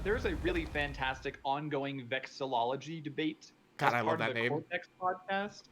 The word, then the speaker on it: vexillology: How are pronounced? I don't even know. Hold on. It's vexillology.